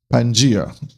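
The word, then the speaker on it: Pangaea: Pangia how how it's pronounced.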